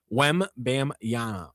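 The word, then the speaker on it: Wembanyama: Women mañana. Exactly. Yeah, he was obviously he's How do you say it? Wem Bam Yama.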